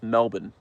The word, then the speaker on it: Melbourne: Melbourne, but it's pronounced Melbourne.